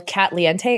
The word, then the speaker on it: Katliente: the handle cat lente it's like Cente in Spanish but with K in the front and no my name is not Katie it's cat people always mispronounce it because it looks like Katie if you're not paying attention Le yeah it's like cat Le like that not like Katie but um on Instagram